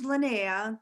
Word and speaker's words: Linnea: show and linnea lina am i pronouncing your name correctly am i pronouncing your name correctly yes it's it's linea but you are pronouncing it correctly okay and look um